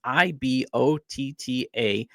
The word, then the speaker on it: Ibotta: Just go to the App Store or Google Play Store and download the free Ibotta app and use code LOCKEDONMLB. That's IBOTTA. Also, it's pronounced Ibotta in the Google Play or App Store and use code LOCKEDONMLB.